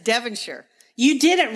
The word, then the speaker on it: Devonshire: current Duke of devenshire notice how I pronounce that British way instead of the American instead of Devonshire I said devire you did it right